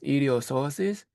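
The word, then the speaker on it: psoas: The P doesn't pronounce idiosis.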